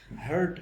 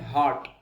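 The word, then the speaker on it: heart: मैंने मिसप्रोनाउंस करते हुए, कुछ बच्चों को और कुछ बड़े लोगों को भी लफ्ज हार्ट जो है, दिल, हार्ट डिजीजेस, हार्ट अटैक, उसे हर्ट पढ़ते हुए सुना। आप हर्ट ना पढ़ें, हर्ट का मतलब होता है किसी को तकलीफ देना।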